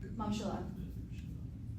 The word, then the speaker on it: ממשלה: Mamshala.